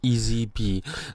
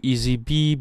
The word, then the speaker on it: EazyBe: to be talking about today and it's called ezb now ezb is spelled with a z right so e a